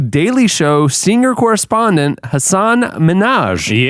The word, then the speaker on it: Minhaj: Show senior correspondent Hassan Minaj. Yeah, he's coming up later. Uh, it's pronounced like Nicki Minaj.